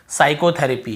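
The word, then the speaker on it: psychotherapy: एस से पहले पी आए तो पी साइलेंट होता है।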